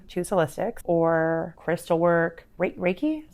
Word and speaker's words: Reiki: Reiki is how you pronounce it. Raiki.